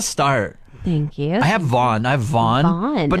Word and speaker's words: Vaughn: I have Vaughn. Vaughn. But not spelled like Shawn, but with a V. Okay. Yeah, so not like VAUGH. It's like VHAWN. Vaughn. Just after me.